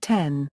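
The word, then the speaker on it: 点: As the Japanese word for dot is pronounced ten, the dots are colloquially called 10-10-10, 10-10-10, akin to the English ...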